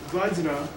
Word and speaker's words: Vajra: Vajra means, by the way it's spelled there, Vajra, is the correct spelling. Okay, I mean the correct sound of it.